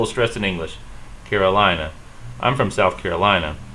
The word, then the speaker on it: Carolina: Carolina. I'm from South Carolina. In English, we stress the lie. I'm from South Carolina. In Spanish, they actually stress the same syllable, though it sounds differently.